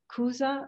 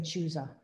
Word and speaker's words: Chuza: is and so it's kuza with a hard c not ch is that i think i think that's how you pronounce it yes yeah okay i was saying chuza all right so kuza